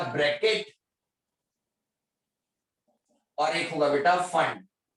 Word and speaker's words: Pfund: और एक होगा बेटा फंड। फंड P जो रहेगा वो साइलेंट रहेगा, PFUND।